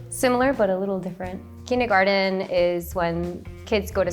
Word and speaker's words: Kindergarten: One word that is common in both languages is kindergarten. How do you pronounce it? What's the difference between it? So in the US we say kindergarten.